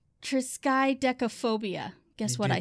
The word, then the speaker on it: triskaidekaphobia: the fear of the number 13 is called triskaidekaphobia guess what i said it right phobia yeah triskaidegophobia triskaidekaphobia so the fear of the number 13